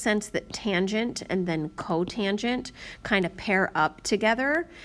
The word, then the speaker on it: cotangent: This one is pronounced cosecant, this one is pronounced secant, and this one is pronounced cotangent.